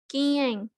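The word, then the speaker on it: 禁煙: Oke, ini selanjutnya dibacanya ini Kiyeng, Kiyeng, Kiyeng, Kiyeng. Mungkin engnya agak samar ya yang di tengah.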